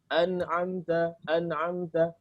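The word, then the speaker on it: أنعمت: An'amta. Kalau nggak ada itu mungkin bacanya an'amta, dibaca hamzah jadinya.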